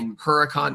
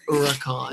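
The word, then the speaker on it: Huracán: correct my pronunciation yeah like Huracan no it's oricon and that sorry nobody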